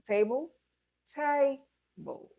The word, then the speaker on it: table: So let's apply that to table. Table, table. Stress the first syllable only and do not give prominence to the second syllable.